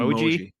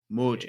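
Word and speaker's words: Mohji: Either way, It's like a longer O sound, I guess. Moji. Moji. Moji.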